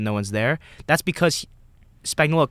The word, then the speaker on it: Spagnuolo: well, I forget the Chiefs, how do you pronounce his last name? Spagnuolo.